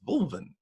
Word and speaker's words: Wulwyn: with that background and i go my name is will when they go oh it's wolven right okay well that's how i pronounce me yes hey hey